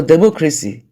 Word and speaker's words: democracy: So for democracy, if we count, cy is the first syllable from the back, cra is the second syllable, while the mo is the third syllable from the back. And so it is the third syllable that is stressed from the back end of the word.